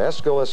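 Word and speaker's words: Aeschylus: bound Del Ross aist I'll accept that escalus is sometimes a pronunciation given but let me say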